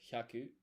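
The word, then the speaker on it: 百: 100 is hyaku.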